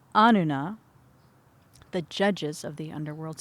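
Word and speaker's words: Anunna: The Ananuna, that's not how it's pronounced, the Anuna, the judges of the underworld, surrounded her, and they passed judgment upon her.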